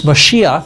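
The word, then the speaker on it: מָשִׁיחַ: that's why this Messiah this mashiach that's how you say it in Hebrew that's why this mashiach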